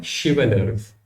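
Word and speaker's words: chivalrous: अगला हमारे पास है शिवलर्स। ठीक है, तो इसकी प्रोनाउंसिएशन एस सच से निकलेगी।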